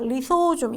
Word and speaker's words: 리소좀: 역할 보시면 되겠고 그다음에 리보솜과 좀 헷갈린 발음에 조심하셔야 돼 리소좀 있니다 리소좀 얘도 단일막이에요